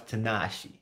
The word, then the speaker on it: Tanashi: tanashi by the way you guys say my name wrong it's kind of weird i am not japanese it doesn't sound japanese you just don't know how to say it it's tanashi and i don't say